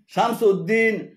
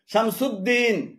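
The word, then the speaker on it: شمس الدين: আলাদা শব্দ হিসেবে উদ্দিন লেখেন যেমন নুরুউদ্দিন, সিরাজউদ্দিন, শামসউদ্দিন, আলিমউদ্দিন এভাবে উদ্দিন বলে আরবিতে আলাদা কোন শব্দ নেই। এগুলো শুদ্ধ উচ্চারণ হল নুরুদ্দিন রুদ, নুরুদ্দিন সিরাজুদ্দিন, জিমদাল, সিরাজুদ্দিন, শামসুদ্দিন, আলিমুদ্দিন তবে দিয়াউদ্দিন উচ্চারণ সর।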